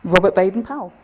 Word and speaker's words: Robert Baden-Powell: How do you pronounce the founder's name? Robert Baden-Powell.